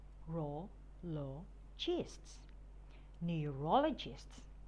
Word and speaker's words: neurologists: after me endocrinologists endocrinologists neurologists knee you raw low chests neurologists oncologists on core low